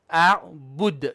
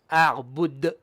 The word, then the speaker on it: أعبد: So a'bud, bud, not bud with the air. Okay. Once again. A'bud. Bud. A'bud. Yeah, almost like Buddha, but without the a.